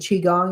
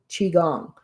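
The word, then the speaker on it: qigong: on um YouTube and Chiang is spelled Qi G O N G. So chi is spelled qi. Chiong.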